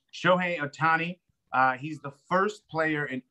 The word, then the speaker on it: Shohei Otani: Because I'm so scared to mispronounce it because that's all I do on this show is mispronounce names. Shohei Otani.